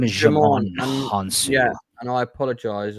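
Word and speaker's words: Djimon: Jamon. His name is Jamon Honsu. Yeah, and I apologize, Jamon, because I have brain farts all the time, so don't take it personally. Like Django, the D is silent.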